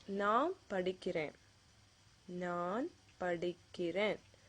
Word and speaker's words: படிக்கிறேன்: that you're doing something, it usually ends with that na sound, படிக்கிறேன். You can see that it ends with an N there. Okay? But some people pronounce it as படிக்கிற. So that is totally different meaning.